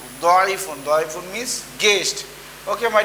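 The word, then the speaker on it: ضيف: My dear students, you have to pronounce this one Doifun. Doifun.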